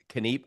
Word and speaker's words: Kniep: It's Kenip. I often will say Kenep Keping it real to make it easy to pronounce, but it's Kenip. is an old ancient German word.